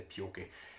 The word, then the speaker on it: pioch: So this is the Sharkins the Pioche. A poke, it's usually written pokey in a book, but it's pronounced pioch in the northeast of Scotland.